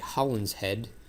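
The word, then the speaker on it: Holinshed: So, the plot from McBth, he stole from this guy named Holland's Head. That's how it's pronounced.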